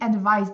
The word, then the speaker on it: advise: s Advice Advice e esse daqui colocar aqui termina com som de z então advise cuidado com